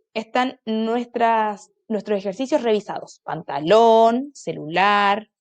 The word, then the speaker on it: celular: Celular, celular o celular. Celular, última sílaba.